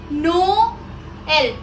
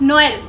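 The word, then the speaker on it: Noël: Like नो एल, नॉट नोएल. इट्स नो एल. नो एल. Break करके बोलना है.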